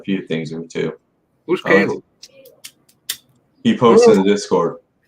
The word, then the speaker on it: Caleb: C-A-L-E-B. Caleb. Caleb. Yeah, Caleb. Yeah, I like to hear from that guy. It seems like he knows a few things or two. Who's Caleb?